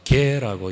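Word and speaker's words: γῆ: 땅이라고 하는 것은 헬라어로는 개라고 이야기합니다. 개. 우리가 흔히 개가 아니고요, 헬라어 발음을 개 이렇게 합니다.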